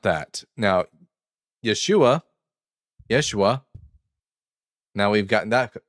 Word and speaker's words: Yeshua: Like a y, a very slight e sound.